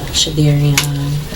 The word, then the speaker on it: Shardayreon: It's pronounced, it's close enough, Shardayreon. Okay. It's pronounced Shardayreon, though.